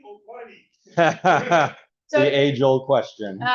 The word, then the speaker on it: Pliny: Is it Pliny or Pliny? So the age-old question. the man is Pliny, but the beer is Pliny. Yeah, it's a long I in American English, but there's only one consonant.